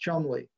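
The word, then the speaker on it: Cholmondeley: MO and de lui it's actually pronounced Chumlee that's the British for you and what he did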